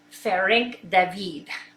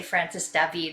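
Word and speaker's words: Ferenc Dávid: in the 1500s named what we would say Francis David but the way you would pronounce his name would be fair ink the bead I usually say Francis Debby because the FIR ink doesn't roll out my mouth well so this is a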